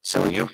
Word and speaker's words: Seljuk: S-E-S-J-I. Seljuk. S-E-L-J-U-K. My mistake pronouncing that.